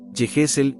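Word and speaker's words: יחזקאל: El nombre, Ezequiel, es de origen hebreo y se pronuncia, Yehesel, en hebreo bíblico.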